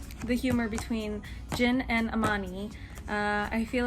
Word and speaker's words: Amani: um so far I love to Mid uh Amaria left him was not okay but so far